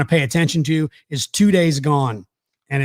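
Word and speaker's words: Too Daze Gone: that you want to pay attention to is two days gone and it's spelled t-o-o like two and then days d-a-z-e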